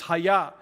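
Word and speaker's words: היה: or something like that it's just Haya is the way that it's pronounced right there it's the personal name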